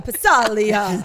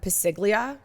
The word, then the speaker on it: Passaglia: But the best is is Chris called them Piglia for years. Years. Oh, that's right. I think as a joke. No, because he didn't know how to pronounce it. Well, it's Italian. The G is silent, so he just called it piglia.